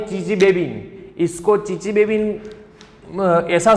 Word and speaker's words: Chichibabin: ये यहाँ पे TS जो आपको दिखा रहे हैं ना, ये साइलेंट है। जैसे सुनामी, तो सुनामी नहीं बोलते, उसमें TS है, जो तो है वो साइलेंट होता है। साइकोलॉजी में पसाइकोलॉजी नहीं बोलनी है, उसमें P क्या होता है भैया, जो साइलेंट होता है ना, ऐसे TS यहाँ पे साइलेंट है।